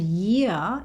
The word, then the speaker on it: year: And year is the word in this phrase that ends with an R sound. So it's replaced with the schwa sound. Year, year, year. And year rhymes with here, which I say all the time in my videos here. Here, I just said it again.